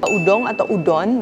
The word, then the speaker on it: udon: Today, we'll be making Udon. Japanese people pronounce it as "udong".